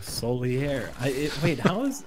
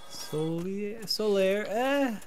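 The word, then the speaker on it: Solaire: Also, Solier. How is it spelled? Hold on. It's S-O-L-A-I-R-E. So it's solar, but with an I after the A and an E on the end. Solier.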